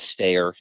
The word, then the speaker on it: Staer: my my solo project which is stair that's my last name it's sta er it's spelled in a very stylized way it's st delta ER so if you're looking